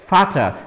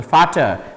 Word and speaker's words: Vater: For example, Vater and Water, Water and Vater in German. So, V is pronounced as V in this case, and so this is pronounced as F.